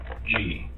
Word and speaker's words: Ravnsborg: Ravnsborg. Okay. But it's pronounced rounds, like a round circle. Okay. Berg, like an iceberg.